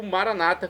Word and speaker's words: maranata: E agora eu clamo maranatá, como dizemos nós católicos, ou maranata, como dizem nossos irmãos separados das comunidades evangélicas. Não importa a pronúncia, o significado é o mesmo.